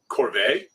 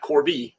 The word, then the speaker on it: Corvi: The genitive name that's given to its stars is Corvae, not Corby, Corvae, and its abbreviation is CRV.